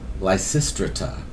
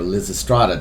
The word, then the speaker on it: Lysistrata: wanda proposes a strike lysistrata or liz estrada depending on how you choose to pronounce it i've heard both of those pronunciations the classic anti-war play